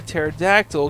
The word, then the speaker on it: pterodactyl: can't you hear a pterodactyl go to the bathroom because the p is silent okay yeah i've never